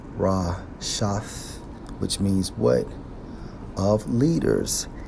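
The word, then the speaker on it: רשת: When we focus on net in the Hebrew, Strong's H 7568, pronounced as Rashath, which means what?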